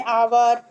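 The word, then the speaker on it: hour: जब कोई भी वर्ड जो होता है वो साइलेंट एच से स्टार्ट होता है तो उसको भी हम लोग एन आर्टिकल यू के द्वारा यूज करेंगे, जैसे एन आवर, an honest man, N hair, N honourable man.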